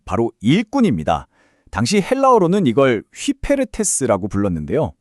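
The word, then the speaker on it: ὑπηρέτης: 당시 헬라어로는 이걸 휘페르테스라고 불렀는데요. 발음이 좀 낯설죠. 휘페르테스.이 이게 단순한 노동자가 아닙니다.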